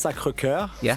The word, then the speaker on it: Sacré-Cœur: Yeah, so that's Sacré-Cœur for the real correct.